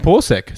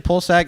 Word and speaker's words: Pulisic: Wait, is that actually how I pronounce it? Like you pull the sack? Okay. Christian Pulisic is an up-and-coming player from England.